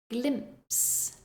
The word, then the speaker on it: glimpse: a CH scratch scratch Glimpse Glimpse this word has three consonant sounds together the M the p and the s glimps Glimpse now the